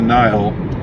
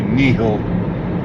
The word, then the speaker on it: Nihil: premise of under the nile which is spelled n-i-h-i-l and you know i guess typically that would be knee-hill but i but i